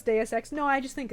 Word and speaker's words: Deus Ex: Now I keep pronouncing it wrong because I fucked around too much. Deus Ex.